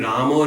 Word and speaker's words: Rama: And Bengali pronunciation also removes the in many situations, or often it changes the into an O sound, right? So our habit of doing Ramo, Ramo, O, that O sound comes from Prabhupada.